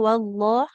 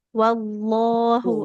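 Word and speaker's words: وَاللَّهُ: Boleh diulang Ibu yang wallah, jangan seperti ada waw sukunnya, tidak wallah, wal langsung ke lamnya. Wallahu والله a'lam.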